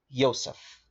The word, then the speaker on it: Yosef: the man they call Yosef. So people will call him Joseph, but I'm trying to pronounce the name right because the letter J doesn't exist, all right?